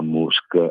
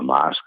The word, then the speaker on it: Musk: gli attacchi violenti a musk e a poi si pronuncia Mask mi pare sì CTO e e